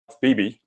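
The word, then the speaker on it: BEBEE: Both are pronounced BB, B-E-B-E-E, and B-E-B-B-E, and I put one in instead of the other.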